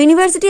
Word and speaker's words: university: ইউনিভার্সিটির উচ্চারণটা ওয়ার মানে ওয়া এরকম একটা উচ্চারণ হয়, মানে এটা আমাদের ইংলিশ লজিকের ক্ষেত্রে বলা হয়। আমরা যখন উচ্চারণ করি ইউনিভার্সিটি উচ্চারণ করি, কিন্তু আমাদের ইংলিশ লজিকে বলা হয় যেটা ওয়ার মতন উচ্চারণ হচ্ছে, সেই জন্য আমাদের ইউনিভার্সিটির